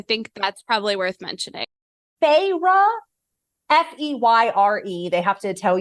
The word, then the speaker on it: Feyre: Feyre, Feyre. They have to tell you how to pronounce it.